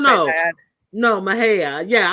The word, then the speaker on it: Mexia: No, Mahia. Yeah, I didn't know how to say it at all when you look at it how it's spelled, and I was like, oh, that's pronounced Mahia.